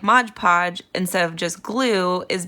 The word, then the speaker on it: Mod Podge: just brushing some mod mod podge it's actually not Modge Podge um how I have been pronouncing it basically forever it's Mod Podge um so it's news